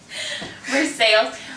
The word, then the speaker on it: Versailles: We pronounce every letter. Versailles.